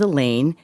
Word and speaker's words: Elaine: my given name is Elaine and I used to introduce myself as elain rhymes with insane because I hate being called or E I mean they're fine